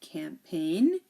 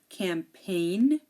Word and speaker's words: campaign: of a word like campaign design foreign R and sign so here the g is silent we don't pronounce the G we don't say the